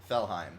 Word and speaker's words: Felheim: Felheim. That's how it's pronounced.